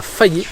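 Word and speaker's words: Faie: Nous avons repris la route et nous nous sommes arrêtés sur l'île du Nord, à Fayé exactement. Je suppose qu'on prononce comme ça, F-A-I-E.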